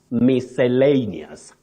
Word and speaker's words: miscellaneous: In the first place, Betty, that word is long and many people struggle to pronounce it correctly, even when it comes to spelling. Yes. But what you say is miscellaneous.